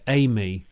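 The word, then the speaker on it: AI:ME: They pronounce it, Amy. So Amy.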